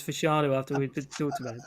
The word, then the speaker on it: Fashanu: Yeah, it's so hammered into me that it's Fashanu after we've talked about it.